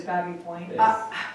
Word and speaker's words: Baby Point: It's just like Baby Point is Babby Point.